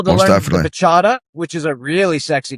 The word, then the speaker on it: bachata: the bachata, which is a really sexy dance. Like you don't So- want to dance that with The someone else's woman. muchata. It's called muchata? bachata.